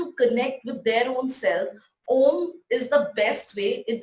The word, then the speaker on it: Om: The Om is a universal sound, does not follow any religion, caste or creed. The Om has 3 syllables, A, U and Im.